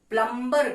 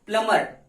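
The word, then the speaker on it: plumber: है, तो हम लोग प्लम्बर को बुलाते हैं। जी हाँ दोस्तों, लोग इसको क्या पढ़ते हैं, प्लम्बर, जबकि क्या है, प्लमर। ये क्या है, प्लम्बर। यहाँ पे बीच जो है साइलेंट है।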